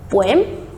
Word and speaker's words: poem: How do we pronounce it? Poem? No, the correct pronunciation is poem.